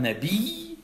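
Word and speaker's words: نبي: Il y a une shidda.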